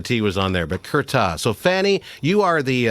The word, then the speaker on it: Curtat: it's fanny is it kertat it's kirta so like many things in french you don't pronounce the last letter you know i think